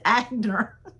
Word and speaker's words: Aigner: She said, but really, that's how you pronounce it. She said, but I grew up here in the South too, and it was always Agner.